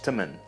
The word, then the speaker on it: teman: And one more small difference we can see is that the word for friend, teman, is pronounced more like temen.